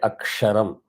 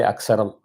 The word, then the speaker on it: Aksharam: When I say Aksharam, I will not say Aksaram. It's not the correct pronunciation.